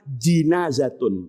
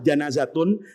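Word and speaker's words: جنازة: Ada yang membaca janazatun, ada yang membaca jinazatun. Itu dibeda-bedakan karena bahasa Arab tuh kaya. Jenazah itu ada dibaca jimnya pakai fathah. Janazatun itu artinya mayatnya. Kalau mayat di atas kurung batang itu dibacanya jinaatun.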